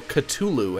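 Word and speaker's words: Cthulhu: Kraken Kraken plus Leviathan cthulu or culu as I've also heard it pronounced cthulu plus cthulu Kraken plus cth you know I'm going to say cthulu it sounds more normal to me um cthulu cthulu plus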